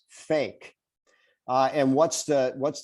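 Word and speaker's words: PHEIC: ph emergency e-i-c uh if you pronounce that it's pronounced as fake uh and what's the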